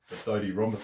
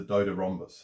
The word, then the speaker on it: DodeRhombus: why it's called the dodie rhombus i think the probably the correct pronunciation is the dota rhombus as in dodecahedron dodec rhombus but who knows what matters is what